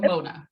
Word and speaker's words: Monah: uh just said it wrong it's mona but you go by mona right yes yeah